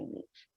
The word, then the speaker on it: niche: certain genre or niche, that's how I pronounce niche. I don't say niche, I say niche because I'm fancy.